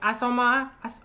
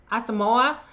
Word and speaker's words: Asamoah: My girl Ajola Asoma, I'm saying her name wrong, Asamoah.